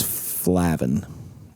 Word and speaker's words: Flavin: But no, obviously because what Will pulled off, which Will Flavin or Flavin, depending on how you want to pronounce it. What does he prefer? He prefers Flavin.